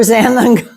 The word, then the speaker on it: xanthan: ZG on it for xanthan gum. Xanthan is spelled with an X, like Xander.